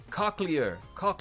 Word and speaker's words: cochlear: Okay, it's pronounced okay, cochlear. Okay, thank you so very much. I never would have come to that conclusion on my own, so I appreciate that, Sibuna. Cochlear ear implant for those who are hard of hearing.